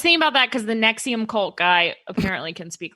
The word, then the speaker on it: NXIVM: i'm i was thinking about that because the nexium cult guy apparently can speak like four languages